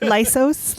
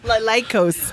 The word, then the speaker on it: Lycos: Lysos. Lycos? Lycos. Oh, I said it wrong.